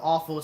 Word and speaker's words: offal: Yeah, it's the other spelling of awful. Sounds like awful, but it's spelled OFFAL.